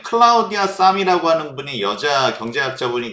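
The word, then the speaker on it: Sahm: 클라우디아네 이름이 성이에요 그래서 아국 말로 싸이라고 하면은 성할 때 삼 뭐 이런 거기 때문에 구분이 어려우니까 샤이라고도 읽는데요 아 그렇지만 정확히 보면 싸 좀 길게 읽어야 됩니다 그래서 클라우디아 사이라고 읽어야 되는데 우리는 장음이 없죠 예 그렇기 때문에라고도 합니다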